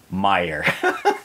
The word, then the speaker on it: Meijer: This one's from Wes Smith, and he says, Meijer is a chain of grocery supermarket stores, like a Walmart, pronounced like Meijer. Like Oscar Meijer Wiener.